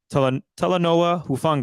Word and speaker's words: Talanoa Hufanga: over again on the broadcast, and that is Talanoa Hufanga.